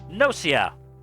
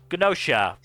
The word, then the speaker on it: Gnosia: Uh, but we should move on to our next show, which is Nosia or Gnosia, depending on how you want to pronounce it.